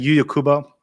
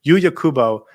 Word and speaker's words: Yuya Kubo: And then lastly, Yuya Kubo, and I did say it right that time, Yuya Kubo was really good at left wing back.